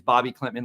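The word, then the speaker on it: Bobi Klintman: I think, so Wes did say confirmed pronunciation is Bobby Klintman, like we've been saying it.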